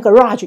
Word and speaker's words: garage: 讲一次，美式念 garage，英式念 garage 发音不太一样，稍微注意一下 garage。